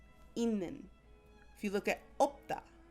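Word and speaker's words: 있는: The way this is pronounced is not itnin, it's inin. That Batchim turns into a Nian sound, inin.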